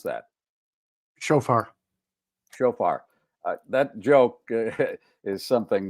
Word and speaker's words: shofar: Alan, how do you pronounce that? Shofar.